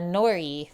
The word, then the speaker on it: nori: looks beautiful in Canada Nori rhymes with sorry always okay so first thing